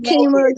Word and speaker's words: Qimmah: How all the Qimmahs, even though my name is pronounced Qimmah.